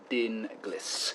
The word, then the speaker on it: Dinglis: He said the name is pronounced Dinglis.